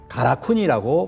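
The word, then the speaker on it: 韓国: 신국 신사로 바뀌게 되거든요 근데 발음은 어떠냐면 둘 다 가라쿠니 발음을 합니다 발음은 남겨 놓은 거죠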